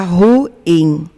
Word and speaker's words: ruim: Eu até tenho dificuldade até de pronunciar. As coisas estão ruins. A coisa está ruim. Quando correto, a coisa está ruim.